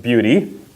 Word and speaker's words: Buty: talk let's talk about beauty b-u-t-y and it is pronounced beauty yes it is nina